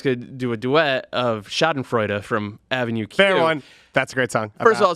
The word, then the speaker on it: schadenfreude: day central last night pronounced it shot and freud i noticed that when